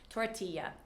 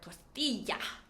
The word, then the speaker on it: tortilla: Next, we have tortilla. So we do pronounce this similar to the Spanish. We have the double L, just like paella, tortilla, or tortilla.